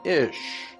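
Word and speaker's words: איש: Hebrew word for man, Ish. Here's another reference work that said, interesting, the words for man and woman in Hebrew is identical. Man in Hebrew is pronounced Ish and looks like this.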